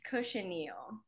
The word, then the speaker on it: cochineal: soaking the is it coach anneal or cochineal it's cushineal cushioningo that's how Jose pronounced it was like a instead of a CH more of an sh kosher meal kosher meal